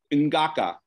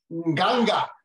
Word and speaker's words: Nganga: She would have been called, it's Ngaka is how, I'm not saying it correctly. Ngaka. What, do that again? Nganga. Nganga. There you go. No, it's not Ngaka.